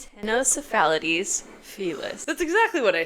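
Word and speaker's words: Ctenocephalides felis: There is a silent C in front of the T, which is one of my first complaints.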